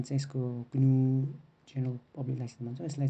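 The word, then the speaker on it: GNU: यसलाई चाहिँ ग्न्यू उच्चारण चाहिँ यसको ग्न्यू जेनरल पब्लिक लाइसेन्स भन्छौँ, यसलाई चाहिँ ग्न्यू प्रोजेक्टले भेट्दछ।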